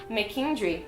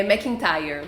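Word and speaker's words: MacIntyre: Junto com a Margaret McKendry. É assim que se pronuncia também o nome dela? Não sei. É McIntyre.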